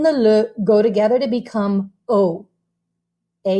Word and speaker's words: au: go together to become o a u okay and it's pronounced like the letter o okay so let me